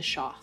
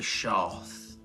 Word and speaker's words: Shoth: peace, lose your bones, be one with the Shoth. Yeah, be at peace. You would see Beck reach into his apron and drop a bit of salt in front of him. Be one with the Shoth.